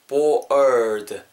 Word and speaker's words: bored: 약간 er 사운드, r 사운드 할때 약간 er water 할때이 느낌으로 er 느낌 넣어주시면 좋을 것 같아요. bored. 약간 트 이러면서 끝나는 거죠. ed 발음. 따라해 보세요. 듣고 bored, bored. 그렇죠.